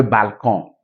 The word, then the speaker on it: balcon: Until you add an E, okay, E to that consonant, it will not be pronounced. Right? So on a le salon, le balcon.